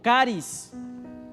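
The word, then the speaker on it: χάρις: Pablo sino que es una palabra que en griego se pronuncia como caris y caris va mucho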